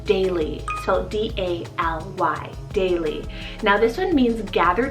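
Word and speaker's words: Daly: and this is the name daily so d-a-l-y daily now this one means gather together and it's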